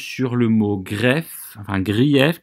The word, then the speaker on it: grief: le mot greffe un grief qui se prononce greffe ici pour qu'on ait le bon nombre de syllabes grèves tournantes ça veut